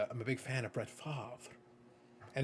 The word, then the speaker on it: Favre: a big fan of Brett Favre and it's pronounced like that with a little bit of extra emphasis but I've got some